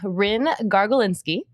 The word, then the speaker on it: Ryn Gargulinski: So today we have Ryn Gargulinski, but you can call her Rynski. You can also give me little high fives because I pronounced it correctly, I think. You did.